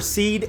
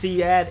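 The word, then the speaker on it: SEAD: into immediate hard mode that's where seed and deed missions come in side note I've also heard to pronounce Cad and Dad whatever y'all can fight to the death in the comment section over how it's pronounced in your neck of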